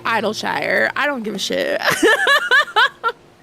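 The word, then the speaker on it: Idyllshire: I was wondering if it was Idleshire, because in general, when Shire is a suffix, it's pronounced sure, like Worcester or New Hampshire.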